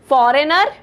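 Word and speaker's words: foreigner: एन ई आर फॉरेनर इसमें आपका जो जी क्या होता है बेटा साइलेंट होता है साइलेंट जी होता है ठीक है फॉरेनर ऑप्शन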